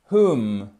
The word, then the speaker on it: whom: Whom. On ne prononce pas le W aussi.